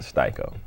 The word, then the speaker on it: Sty-ko: to say styo myia so shorten it to styo very very nice choice what about yours the